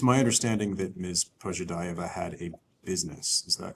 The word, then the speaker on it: Pozhidaeva: Pozhidaeva is is how I'm pronouncing it.